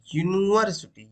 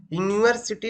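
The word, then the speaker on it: university: ठीक, अब यहाँ पे आप थोड़ा सा ध्यान देना, यहाँ पे इसका जो प्रोनाउंसिएशन है ये निकल के आ रहा है यूनिवर्सिटी, यू। ठीक, यूनिवर्सिटी निकल के आ रहा है यहाँ पे।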